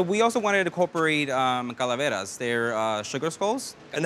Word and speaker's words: calaveras: So we also wanted to incorporate calaveras. They're sugar skulls. And how do you pronounce them?